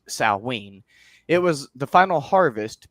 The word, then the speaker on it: Samhain: I know it's Samhain, so a lot of people, myself included, often pronounce it Samhain, but Celtic is a little bit weird, and technically it's pronounced Samhain.